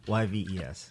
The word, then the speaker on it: Yves: There's an S at the end. I fought him 16 years Silent. ago. I've been calling him Yves forever. What do you know? Why are you high fiving? You got it right? silent. He said it's silent. The S is silent.